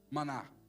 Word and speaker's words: maná: Maná. Que é isto? Que é isto que ele faz? Como que ele faz essas coisas? A pronúncia é maná.